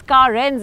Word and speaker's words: Carens: Yes, Carens is how it is pronounced because it's an amalgamation of car and renaissance.